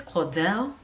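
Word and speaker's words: Caudalie: the Claudel this is how you say this Claudel this is their um Boutique this is their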